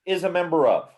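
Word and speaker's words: ∈: And it is pronounced is a member of.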